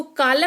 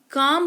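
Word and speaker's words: calm: जैसे कि पाम इसको पालम नहीं पाम पढ़ते हैं यानी कि हथेली। इसको कालम नहीं काम पढ़ते हैं यानी कि शांति। इसको हलफ नहीं हाफ पढ़ते हैं।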